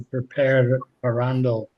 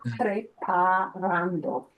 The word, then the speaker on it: preparando: You're adding an extra syllable, Okay.